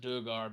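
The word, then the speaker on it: Duergar: up using Duggar art I like to pronounce it Duggar because it sounds more alien which is what under dark languages would seem like to me you know because the underdark is an alien world and uh I like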